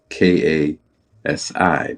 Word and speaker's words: Kasi: It's spelled k a s i, but it's pronounced Kasi.